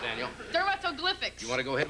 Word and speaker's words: dermatoglyphics: How's that pronounced, Daniel? Dermatoglyphics. You want to go ahead with that one? Okay. Dermatoglyphics.